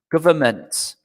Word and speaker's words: government: Okay, so if you want it almost in a kind of simple phonetic way, it's basically like this, government, okay? We do not pronounce the N, okay, when you pronounce it.